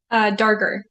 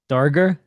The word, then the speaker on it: Darger: All right, so tell me how to say it then, so I don't butcher that again. Darger. Darger? Yeah. Perfect.